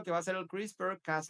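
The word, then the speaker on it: CRISPR: Este es un método que se pronuncia crisper.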